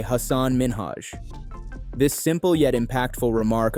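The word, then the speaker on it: Hasan Minhaj: a respectful and self- assured demeanor as Ellen pronounced his name incorrectly a subtle yet important moment occurred and it's Hanan Minaj yes no really well my name is Hass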